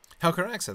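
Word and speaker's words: Helcaraxë: Now, as to their preparedness for the Helcaraxa, how do you pronounce that? Helcaraxa, that's just right.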